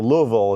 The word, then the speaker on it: Louisville: COS a canoe evil Kentucky or Louisville as they pronounce it I guess was our